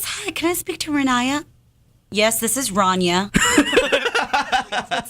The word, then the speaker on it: Rania: Rania. So many people mess up my name. They say Rania. Rania. Oh, I hate when people call me and they're like, yes, hi, can I speak to Rania?